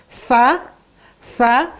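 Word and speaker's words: ث: Ujung lidahnya di antara dua gigi, jangan digigit, ya, jangan digigit. Sa ditempatkan di ujung dua gigi, ya.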